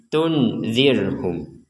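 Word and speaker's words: تُنْذِرْهُمْ: Samar itu artinya antara dengung dan jelas. Jadi kalau tundir ini kita baca jelas akan menjadi tunzirhum. Sekali lagi, tunzirhum itu jelas. Atau dibaca dengung. Tunirhum. Dibaca dengung. Nah, sekarang dibaca antara jelas dan dengung.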